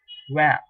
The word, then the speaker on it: vingt: Number 20, you have VINGT, pronounced as WAM, WAM. In English, WAM for the English speaking people.